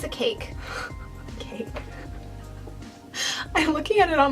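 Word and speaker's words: caique: Cake.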